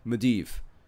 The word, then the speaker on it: Medivh: Yeah, that's how you pronounce Medivh.